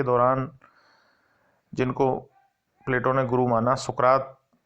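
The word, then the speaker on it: Πλάτων: प्लेटो शब्द का यूनानी उच्चारण प्लाटोन है तथा प्लाटोन शब्द का अर्थ चौड़ा चपटा होता है।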